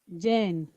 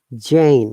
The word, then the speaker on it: Jane: sorry what's the name jan jane yeah it's a bit long of all sound not jan because of the e because it's a proper now it has become longer yeah okay jen yes